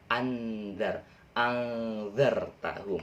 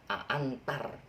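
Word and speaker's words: أنذرتهم: Saya mengantarkan sesuatu, antar, tapi pakainya zal, anzar tahum. Jadi kita cluenya itu kata kuncinya antar aja, tapi jangan antar, jangan bacanya antar, nanti dimarahin sama Pak Ustadz ya.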